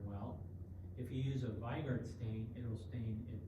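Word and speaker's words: Weigert: won't stain very well if you use a vard stain it will stain in Black stay the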